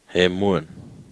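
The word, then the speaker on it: ἡμῶν: And then there is a mi, there's an omega, and then there's a nun. So now try and pronounce that one. He. Hemuan. Do you agree? Ha. He. M. Omega N. Hemuan.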